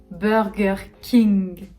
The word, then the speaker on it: Burger King: va dire burger king burger king burger comme le beurre beurre gher king burger king en troisième on aura